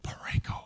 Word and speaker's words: Pareko: So my name is Pareko. I pronounce it Pareko, like the wind.